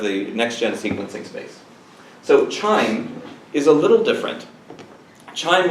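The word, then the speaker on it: QIIME: see their logo at the upper right that's chime first of all how many people knew before today that it's pronounced charming right Qi does not always strike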